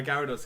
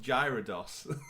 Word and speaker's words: Gyarados: Trying to show off how cool my Gyarados is. The first thing she does is looks at it and goes, "Isn't it pronounced Gyarados?"